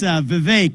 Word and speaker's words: Vivek: It's Vivek. It rhymes with cake.